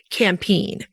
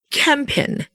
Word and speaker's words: Campine: And in America and some other areas, you often hear it campine. There's a lot of ways to say it. Well, we're using the Belgian Flemish pronunciation, which is campin.